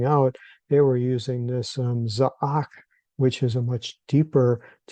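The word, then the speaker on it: זעק: And so when we look at the root spelling of the word, which is the Zion, Ayin, and Kuf, it's pronounced Za'ak.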